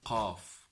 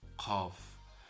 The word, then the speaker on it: ق: So Kaaf is a letter that is pronounced from deep of the throat, from this area. Kaaf, Kaaf. So let us try it sometime. Kaaf, Kaaf, Kaaf.